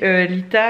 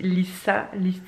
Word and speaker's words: Litha: Et donc, Lita, alors à la base, ça se dit Lissa. En fait, le TH a une prononciation un peu spéciale.